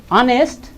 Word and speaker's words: honest: Yes, honest, this is H. You know, this is not the vowel letter, but pronunciation is vowel.